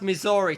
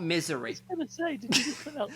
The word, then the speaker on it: Missouri: think you mean no i think he it's pronounced missouri tom not misery ah yes the one in misery this happened